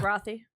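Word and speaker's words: Rothe: Am I pronouncing her last name right? Yeah. Rothy. Rothy? Rothy. Yeah. Rothy.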